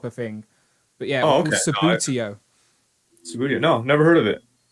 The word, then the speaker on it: Subbuteo: So I apologize for my over enthusiasm when I realized what I thought it was called Subuto, not How do you say it? Subbuteo. Subbuteo. Oh yeah, okay, fine.